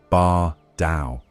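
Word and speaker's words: Baar Dau: Bar Dao, pronounced Bar Dao, the colossal moonlet suspended above Vivec City for centuries, had long been both miracle and warning.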